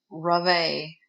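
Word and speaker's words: Revé: re ve and had to look up the pronunciation because I wasn't sure Ravi John became a victims advocate and is most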